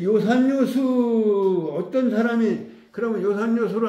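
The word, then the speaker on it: 樂山樂水: 풍류 학자에 물수 그런데 읽기는 음악이라는 악자 읽지 않고 즐길 요라고 읽는다 이거 한자 이제 뭐 시험은 자주 나오잖아요 옛날에는 뭐 한자 시험을 많이 봤는데 지금은 여기는 악자 아고 하면은 틀리고 요라고 해야 된다 악자화 낙자 읽어서는 안 된다 요산요수 이거 뭐 저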